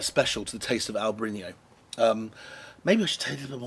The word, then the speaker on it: Albariño: does something quite special to the taste of Albarino.